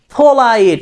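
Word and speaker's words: polite: শিখবো দেখেন আই এম পোলাইট আমি কি বলবো আই এম পোলাইট আমরা কিন্তু বলেছি আমরা পি উচ্চারণ করবো না আমরা কি উচ্চারণ করব ফ ঠিক আছে প উচ্চারণ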